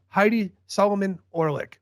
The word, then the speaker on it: Heidi Solomon-Orlick: guys are talking about everyone say hi to Heidi Solomon orick what's up Heidi you got it perfectly hian